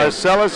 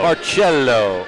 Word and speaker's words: Marcello: Marcellus or is it Marcello? Marcello. You know, being an Italian, I think I'd like to have those Italian names pronounced properly.